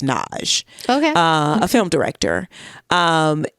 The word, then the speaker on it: Nagy: It's spelled Nagy, Nagy, but it's pronounced Naj.